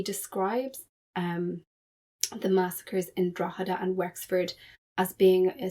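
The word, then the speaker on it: Drogheda: me the most was he mispronounces Draada. So he calls it Dragodada. And so if you're an eminent scholar of Cromwell and you're talking about or you're making a judgment about how significant his actions in Ireland was, my question is how do you not know how to pronounce Drawa?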